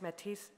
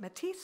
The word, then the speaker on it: Métis: globally, She's Métis from Winnipeg, from a mixed Métis-- is it Métis [pronouncing terminal s] or Métis , I didn't know if you,